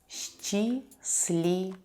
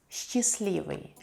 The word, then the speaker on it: счастливый: Счастливый. Счастливый. Adjective happy. We don't pronounce the letter T here.